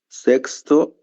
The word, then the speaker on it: sexto: A gente vai só fazer uma pequena mudança na pronúncia. Sexto, sexto emprego, certo? Assim como na palavra sexta, né, que é uma palavra feminina.